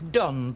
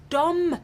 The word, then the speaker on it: Dom: time to see this done fella not Don Gran Dom it rhymes with bomb I don't understand your